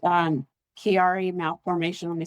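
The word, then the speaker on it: Chiari: It's um Kiari malf for let me spell it for you.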